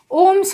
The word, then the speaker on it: ओम: किस नाम से जानेंगे, ओम। और ये किसका यूनिट है, रेजिस्टेंस का। तो इसे हम प्रोनाउंस कैसे करेंगे, ओम।